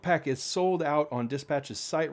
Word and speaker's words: Dsptch: pack this is from dispatch that is spelled d s p t c h dispatch without the vowels so no vowels it's a consonant only company um and this is